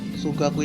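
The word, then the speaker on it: 数学: itu memiliki arti matematika sugaku itu adalah Matematika unya itu kan dobble maka e cara Mau bacanya e inotasinya dipanjangin aja sugaku seperti itu lalu selanjutnya adalah geutsu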